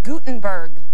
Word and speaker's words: Guttenberg: your name I apologize it's Gutenberg Gutenberg I know like the Press like the Press like the printing press absolutely there you go